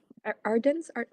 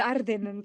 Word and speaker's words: Ardennen: Ardennes? Yes, the Ardennen po. We are more familiar with the Belgian, with the Dutch rather pronunciation po, but definitely visit po Ardennen.